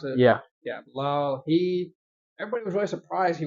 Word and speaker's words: Bilal: yeah, Bilal, is that how you pronounce it? Yeah. Yeah, Bilal.